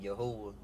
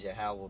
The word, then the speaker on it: Yahweh: And he said the name wrong. He said Yahuwah, and we know the names of the Lord is Yahweh, Ba'ashem, Yahweh Shai, who the word we call God and Jesus Christ.